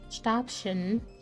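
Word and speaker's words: Stäbchen: He says the Stabchen with a sharp S rather than a sh.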